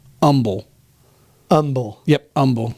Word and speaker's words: Humble: it's humble but pronounced Umble Umble yep Umble so take away the H you know like we do with herbs do the same thing